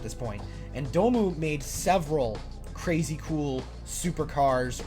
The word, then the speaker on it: Dome: It's pronounced DOMU cuz it's not dome like a big circle. Um, it's it's pronounced DOMU because DOMU means something like uh child's dream in Japanese or it's like an acronym for child's dream.